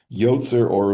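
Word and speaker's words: יוצר אור: blessings of the Shema, Yotzer or Uvorei Choshech. When you say that bracha, the Lo Yemar Yotzer or Uvorei Noga, that you have to be careful. Don't say Yotzer or Uborei Noga, that God forms light and creates Noga.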